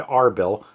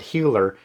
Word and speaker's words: Erbil: So no matter what I use, Herbil, Arbill, Healer, or Holler, all of them are fine.